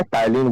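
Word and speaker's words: ptyalin: salary एमलाइज है ना जिसको पी जो है साइलेंट हो जाता है टलीन बोला जाता है है ना टलीन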